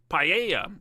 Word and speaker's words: paella: Paya all the way. Is that how you pronounce it? How do you pronounce it? What is this? What is this food? Paella.